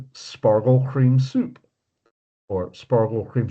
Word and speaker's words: Spargel: Well, they call it Spargel which they pronounce it Spargel.